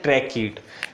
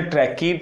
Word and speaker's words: tracheid: Between ट्रैकीड पढ़ते हैं, इसे क्या पढ़ते हैं ट्रैकीड, इसका प्रोनाउंसिएशन ऐसे लिखा जाता है हिंदी में ट्रैकीड, इसे पढ़ते हैं बेजल, इसे क्या पढ़ते हैं वेजल, ठीक है। तो इसे ट्रैकीड पढ़ते हैं, इसे बेजल पढ़ते हैं।